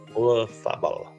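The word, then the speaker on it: Olazábal: Olazabal. Can everybody pronounce that proper Spanish?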